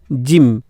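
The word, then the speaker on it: gym: যেমন দেখো জি ওয়াই এম, জিম, জিম, জিম। তো এখানে দেখো ওয়াইয়ের উচ্চারণ ই আসছে এবং ই এর উচ্চারণ অল্পস্বর উচ্চারণ হচ্ছে, বোঝা গেল।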